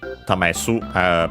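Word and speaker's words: 試す: uh to test uh tamesuh by the way accented to test is also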